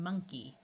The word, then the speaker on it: monkey: In these three words, the O is going to schwa and sound like a short U. So we have money, honey, and monkey.